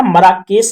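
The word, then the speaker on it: Marrakesh: Sorry, मार्केश या मराकेश ऐसे कुछ करके है, तो आप सही प्रोनाउंसिएशन थोड़ा देख लेना, लेकिन फिर भी मैं आपको जहां तक अपनी तरफ से क्लियर कर देता हूं, इसको मराकेश बोलते हैं।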